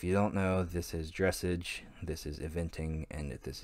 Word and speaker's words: dressage: If you don't know, this is dressage, this is eventing, and this is jumping. I'm just gonna put all three of these together. Dressage is by far the worst.